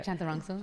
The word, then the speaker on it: Chantarangsu: Chantarangsu. Man, you heard it all. Did I say it right? Yeah. Chantarangsu.